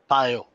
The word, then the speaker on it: Pyo: Do you have a dream pet project that also uses Pyo? Pyo, right? You pronounce yeah, it Pyo.